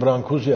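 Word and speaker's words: Brâncuși: modern bir şey ve Konstantin brzi adında kuş diye okunuyormuş Aslında Romanyalı Bir heykel sanatçısı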